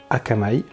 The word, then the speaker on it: Aqamai: connaissez pas encore puisque ça se prononce akamai donc c'est un mot hawaïen qui veut dire amusement